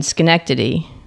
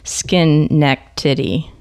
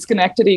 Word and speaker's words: Schenectady: couple hours north and we used as kids we used to say skin neck titty you know skin necks